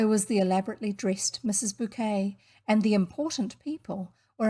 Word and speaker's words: Bucket: appearances with the pretentious mrs bucket pronounced bouquet mrs bouquet her long-suffering husband and